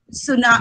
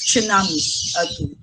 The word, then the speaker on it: tsunami: typhoons earthquakes and tsunamis in other countries they pronounce it as sunnah tsunamis with the silent sea but in our country we usually pronounce it as tsunamis so such as typhoons